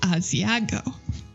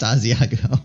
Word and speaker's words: Asagao: Hello, everyone, and welcome back to Asagao Academy. Asagao Academy. It's pronounced Asagao. It's not pronounced Asiago.